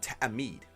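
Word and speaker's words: توحید: the word is called Tam Meade and you hear that stop in the middle of the word really quick and abrupt stop that is what the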